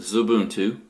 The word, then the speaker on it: Xubuntu: Xubuntu X Ubu NTU and the X is pronounced as an S so that's why you call it the zoo boom - and well we'll